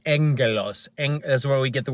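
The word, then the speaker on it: ἄγγελος: be agelos which is agelos or Angelos is how you would phonetically you would speak it phonetic means the way it sounds so it's spelled AG g g e l oos but it sounds like Angelos that's where we get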